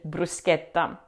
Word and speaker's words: bruschetta: As we've already seen in Italian, the ch combination always marks a hard c, never a shh like in English. So we say sket, not shet in brusqueta.